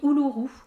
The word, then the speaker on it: Uluru: de chez Ingrid nouof dans les bois coloris ouuru ça s'écrit Uluru euh et c'est en fait c'est